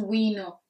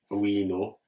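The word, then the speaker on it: bwino: it's really it's just we know which means we know we know no we but it's like spelled like b w so the b is silent so it's like we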